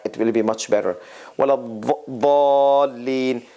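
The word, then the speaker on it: وَلَا الضَّالِّينَ: So the teeth, there's no Z sound in this. This is like the Saudi Arabia and those region pronunciation and others. And then Iraqis and some others, they pronounce it with a Z sound, with a hissing sound.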